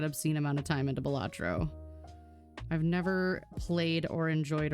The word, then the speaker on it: Balatro: I got really into Balatro for a while. I can still sink an obscene amount of time into Balatro.